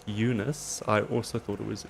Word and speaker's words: Unisa: was asked now is whether it was bunus or Eunice we've been told it's pronounce Eunice I also thought it